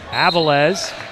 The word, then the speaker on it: Avilés: Apologize, apparently I was mispronouncing his last name in the opener. Avilés, as an offensive foul is going to be called.